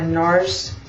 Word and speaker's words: NARS: Next I'm going to take my NARS, it's really NAR, I don't pronounce the S, but anyhow, smudge brush, number 15.